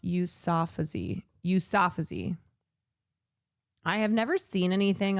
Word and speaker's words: Yousafzai: I have never seen, it's pronounced Yousafzai.